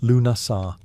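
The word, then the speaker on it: Lughnasadh: Lugnasad, pronounced Lunasar, the Celtic festival honoring Lug, the god of light, craftsmanship, and war. Unlike the grand temple festivals of Rome or Egypt, Lugnasad was celebrated outdoors, on hilltops, in fields, and by sacred wells.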